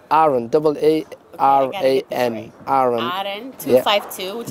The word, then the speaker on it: Aran: So the restaurant is pronounced Aran. Aran, A-R-A-N.